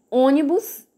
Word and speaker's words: ônibus: o é a antepenúltima quando a gente fala ônibus a parte mais forte é o então essa palavra proparoxítona bora